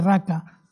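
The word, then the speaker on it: ῥακά: Se escribe paca, pero se ríe raca.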